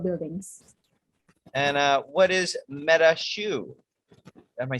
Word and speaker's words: Metaxu: that's an interesting one i think there is different pronunciation with i would say metaksu with like more more accent on the on the x um yeah me take